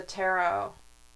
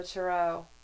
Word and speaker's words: tarot: you guys that know the Tarot or the turo I pronounce it both ways so holy crap King